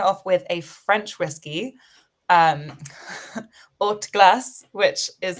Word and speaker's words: Haute Glace: The order of business is we're kicking it off with a French whiskey, Haute Glace, which is how you say it.